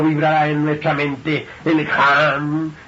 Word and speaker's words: Ham: Ham se escribe con las letras H-A-M. Sah se escribe con las letras S-A-H. La H suena siempre como J.